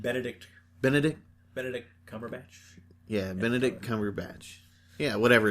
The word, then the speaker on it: Cumberbatch: thing that i find weird about it is cumberland batch with an american accent i say his name right benedict benedict benedict cumberbatch yeah benedict cumberbatch yeah whatever his name is